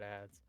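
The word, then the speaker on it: adze: Adsa. No idea. And a hammer. I'm googling it. Paraphorps. Also googling it. And these other It's just pronounced ads.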